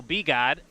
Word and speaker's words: B-God: So that's going to be so B-God. Is going to be how you pronounce his name.